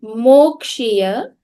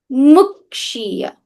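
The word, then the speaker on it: मुक्षीय: Okay, and finally, it's not Mokshiya, it is Mukshiya. Mrityor Mukshiya, not Mokshiya.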